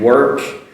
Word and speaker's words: work: Can you notice the difference there? Walk, work.